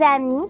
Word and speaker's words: amis: Mes amis, je ne prononce pas le S à la fin du mot amis.